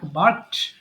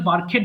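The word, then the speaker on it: barked: বলছি বার্ক সো বার্ক বার্কড বার্কড এটা কিন্তু বার্কেড হবে না ওকে একটু খেয়াল করে পড়তে হবে এটা হবে বার্কড সো বার্ক মানে ঘেউ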